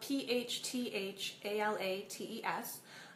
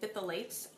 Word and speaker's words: phthalates: Phthalates are not spelled how they sound. They're spelled P-H-T-H-A-L-A-T-E-S. I know this because for a long time I went around saying phthalates. That's not how you say it. It's phthalates. I learned that after I